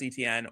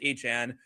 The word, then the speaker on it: Etienne: That's a very like French Creole kind of style.